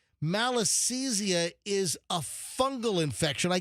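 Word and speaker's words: Malassezia: Let's just confirm I'm pronouncing malisesia correctly. Go. Malisia. All right. Close. Malisia. Malisia. Malisia.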